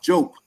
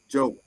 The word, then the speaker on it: Diop: Diop, not Diop. Oh. That's not his name. D-I is pronounced like a J. Diop.